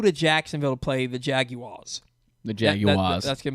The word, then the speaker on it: Jaguar: So I say Jaguar, like almost like I'm joking around, but that's how you say it.